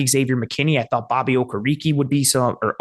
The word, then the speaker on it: Okereke: I thought Bobby Okereke would be or Okereke. I forgot he changed the pronunciation, would be a fun piece.